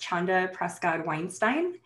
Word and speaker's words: Chanda Prescod-Weinstein: i'll start by saying so my name is pronounced chanda prescott weinstein and i'm so i i thought it would